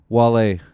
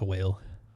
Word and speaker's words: Wale: Wale, did you listen to his album? No. Jeez. I hate his name. Why? Should be pronounced whale. Well, no, because it doesn't have an H.